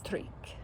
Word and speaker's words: Tryk: And then there is Tryk. It means trustworthy. And when you pronounce it properly, it has that little K sound in there, which you don't see.